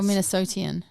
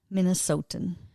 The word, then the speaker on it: Minnesotan: Wait, is it a Minnesotan Minnesotan? Yes. or Minnesotian? Minnesotan.